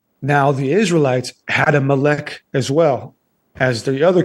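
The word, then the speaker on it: Molech: Moolak. That's actually not how it's pronounced in the in the Old Testament in Hebrew. It's actually spelled M O L E C H which is important because what they were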